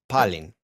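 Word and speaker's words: πάλιν: Palen. Palin. The stress is on the first syllable.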